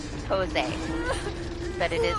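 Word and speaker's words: José: thing M it's Jose the J sounds like an H okay put that in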